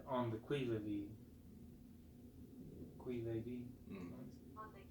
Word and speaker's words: qui vive: Thus, without waiting to be marshaled, the soldiers will be constantly on the qui vive. Can someone look up what qui vive is? It's spelled Q-U-I-V-I-V-E.